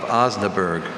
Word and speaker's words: Osnaburg: with covers made of Osnaburg. Are there any alternate pronunciations? Just Osnaburg. Osnaburg. Osnaburg. No. Osnaburg. Osnaburg. It's not a hard vowel sound in the middle of this word.